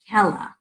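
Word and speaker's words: Khella: kidney number three is I like Ella I think that's how you pronounce it is KH e ll a it's an herb in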